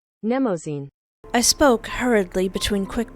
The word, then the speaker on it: Mnemosyne: Editor, may please put up how I'm supposed to pronounce that. Mnemosyne.